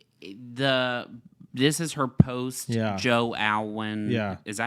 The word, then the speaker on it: Alwyn: I will say this is her post Joe Alwyn. Yeah. Is that how you say his name? Yeah, Alwyn.